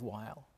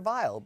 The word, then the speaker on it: Weill: she loved working with while as he was just how he pronounced his name at that point Oh everyone's heard vile it was violin German recognized Americanized had a great determination